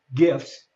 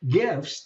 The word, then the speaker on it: GIF: It's the soft G as opposed to the hard G. Okay. But GIFs the It actually stands for graphic interchange file.